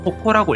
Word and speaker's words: 矛: 그리고 훈독은 호코라고 읽을 수 있습니다.